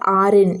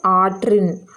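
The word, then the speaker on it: ஆற்றின்: Now here you can see this is not Arin, it is Atrin.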